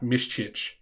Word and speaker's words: Miščić: This guy is going to become a superstar, Miščić. That is how you pronounce his name. He is half Bosnian, as you can see there. So Miščić, probably going to play more than his counterpart, Locklear, who is the Locklear.